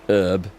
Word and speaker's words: herb: pronunciation of herb yeah I like to hear herb with a with a very good solid H at the beginning not this herb herbs and spices it